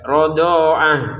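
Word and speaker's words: رضاعة: rodaah rodaah di sini Ini perhatikan tulisannya rodata tapi kita bacanya ha rodohaah. Kenapa? Karena kita berhenti di sini.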